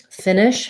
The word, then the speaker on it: finish: for the word finish finish has first syllable stress um both vowels are the if vowel but because the first one is stressed it's going to be a little longer and then the next one is going to be more of